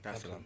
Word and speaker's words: Dar es Salaam: of the 7th, to come straight to Tanzania, Dar es Salaam. Did I pronounce that right? Yeah, Dar es Salaam.